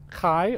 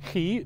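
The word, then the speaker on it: χ: poseidon model x and x in greek is kai or ki depending on what pronunciation set you're using so the kai in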